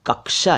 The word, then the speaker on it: कक्षा: तो उसकी वजह से वो शायद कक्षा को कच्छा कह देते हों, लेकिन सही उच्चारण तो साहब कक्षा ही है, कक्षा।